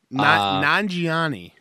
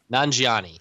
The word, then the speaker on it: Nanjiani: And then Kumail, I can never pronounce his last name. Nanjiani. Nanjiani. Kumail Nanjiani was fantastic as host of SNL.